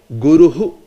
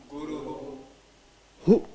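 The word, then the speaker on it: गुरुः: Guruhu. Guru. Hu.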